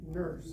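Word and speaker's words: Nourse: You actually pronounced my last name Nurse. Oh, I'm sorry. That's okay, because it's spelled N-O-U-R-S-E, and yes, I am related to Rebecca Nurse.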